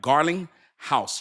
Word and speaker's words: Garlinghouse: It's B Garling House. And I'mma spell it for you. B G A R L I G H O U S E. So like Garling House, just like a house you live in.